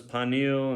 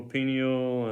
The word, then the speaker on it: pineal: Yeah, the pineal gland is, I hear some people pronounce this pineal and some people pineal, and I don't really care, to be honest.